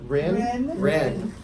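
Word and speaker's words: Wren: Ren.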